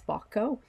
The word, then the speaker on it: Bacco: an anonymous composer that praises Bacco, in Italian it's Bacco, with dialogue, singing, dancing, and playing instruments.